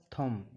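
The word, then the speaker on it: thumb: इसके यह उदाहरण है जब एम के बाद बी आए तो बी साइलेंट रहता है जैसे सी एम बी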